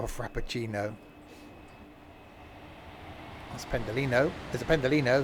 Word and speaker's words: Pendolino: There's a pendolino. That is that that rhymes with frappuccino.